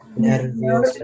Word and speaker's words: nervioso: Nervioso. nervioso, Nervioso. I always like to point it out, you know, the I kind of always gets lost, but it's nervioso, okay?